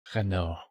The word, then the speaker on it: Renault: Renault? I don't know how you say it in English. Renault. That's how we say it.